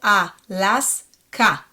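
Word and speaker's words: אלסקה: Aleph and A vowel, A. Las. It closes my syllable. A. Las. Ka. The Samech closes the syllable. Alaska, Alaska, right?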